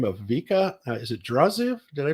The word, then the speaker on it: Draziv: Is it Draziv? Did I pronounce it right?